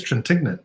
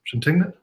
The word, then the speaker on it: Trintignant: I think it's Trintignant, isn't it? Trintignant? Okay, just exactly how it's spelled then.